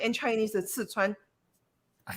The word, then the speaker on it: Sichuan: was awesome it was awesome i loved it sichuan right is the correct pronunciation english would be uh szechuan and chinese that's sichuan i called it i didn't call it like